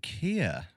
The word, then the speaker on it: Keir: and experiences and today we're joined by Kia hello hello thank you for the invite